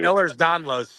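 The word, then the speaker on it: Ehlers-Danlos: Ehlers Danlos.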